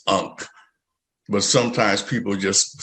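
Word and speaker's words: ankh: the bunk astrologer um i know it sounds a little bit different than it's spelled uh well i spell it two different ways uh some people uh spelled a-n-k-h how is it facebook so on facebook is a-n-k-h okay a-n-k-h with a silent h unk but sometimes people just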